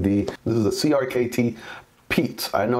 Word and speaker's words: Piet: to be reviewing the this is a crkt peat I know it's not spelled oddly there p-i-e-t but it's pronounced P this is a Jasper boxness design out of